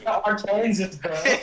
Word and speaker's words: Arkansas: it's Arkansas, bro.